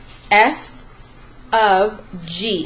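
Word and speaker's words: f ∘ g: much you will see f of G and that is how it's pronounced it's pronounced F of G it kind of looks like the word fog this little symbol in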